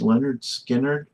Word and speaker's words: Lynyrd Skynyrd: Okay, finally a song off of Pronounced Leonard Skinnard.